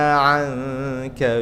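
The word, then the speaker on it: عَنْكَ: Wa wada'na anka wizrak. Ada juga yang bacanya wisrak, bukan wisrak tapi wizrak.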